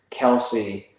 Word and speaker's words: Kelce: So I guess it's not Kelsey. I guess it's pronounced Kels.